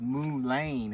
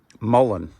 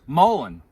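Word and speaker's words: mullein: The plan is called Muain. Am I pronouncing that right? Mullen. Mullen.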